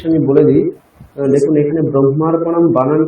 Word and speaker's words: ব্রহ্মার্পণম: এটা অনেক সম্প্রদায় ভেদে অনেক রকম উচ্চারণ করা হয়। আমি দেখেছি অনেক সাউথের মহারাজরা, আমরা ব্রহ্মা এখানে আগে হ তারপরে ম আছে, কিন্তু ওনারা আগে মকার তারপরে হকার বলেন, ব্রহ্ম এটা বলেন, ঠিক আছে?